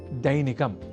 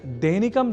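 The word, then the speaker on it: दैनिकम्: अब वाक्यगत अभ्यासार्थ अगला शब्द है दैनिकम जहां ऐ अक्षर का प्रयोग है। तो हम दैनिकम जैसे अशुद्ध उच्चारण ना करें।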